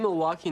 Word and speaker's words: Milwaukee: In fact, isn't Milwaukee an Indian name? Yes, Pete, it is. Actually, it's pronounced Milwaukee, which is Algonquin for the good land.